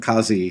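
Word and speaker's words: Cossey: And that was called Happy-O from FM Kazi. Thank you for clarifying the pronunciation on that.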